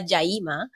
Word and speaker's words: Yaima: Yaima is my birth name. And as you will say probably pronounce it properly in Cuba, Jaima.